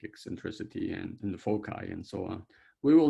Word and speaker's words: foci: will not worry about the foci or fosai or fochi however you want to call this how do you pronounce this right sounds very much like some doctor's name that is become quite famous but um it's it's you know foci i guess right um but but